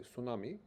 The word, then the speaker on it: tsunami: Uh so you don't uh pronounce t in tsunami. People say tsunami.